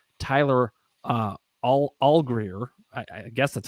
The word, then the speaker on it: Allgeier: Just Bob is giving us some pointers on how to pronounce Tyler Allgeier. I guess that's how he's saying it. He says it's like Rosie Greer, but with an A in front of it.